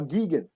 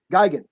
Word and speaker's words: Gigan: all right I'll do uh Godzilla rivals uh gegan Gigan sorry Geiger okay is that the correct pronunciation are you just doing it I I